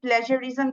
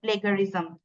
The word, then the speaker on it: plagiarism: correct pronunciation অনেক important, এখানে যেমন একটা এক্সাম্পল আছে যে the pronunciation of the word plagiarism, এখন এটার যে কারেক্ট প্রনাউন্সিয়েশনটা প্লেজারিজম, কিন্তু স্পেলিং এখানে জি আছে, আমরা প্লেগারিজম প্রনাউন্সিয়েশনটা আমাদের আসলে ক্রস চেক,